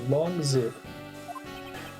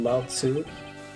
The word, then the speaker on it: Lao Tzu: His father is my honorable ancestor, Long Zi. Supposed to be Lao Tzu.